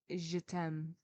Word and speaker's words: Chatham: It was the time when Chatham was pronounced Je t'aime.